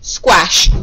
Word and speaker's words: squash: After the qu sound, it's always the short O sound, which is spelt with an A. So that means I need to sound this out as an O.